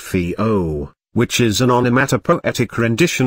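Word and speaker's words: whio: the dabbling ducks the Maori name sometimes used in English is while pronounced vo which is an onomatopoetic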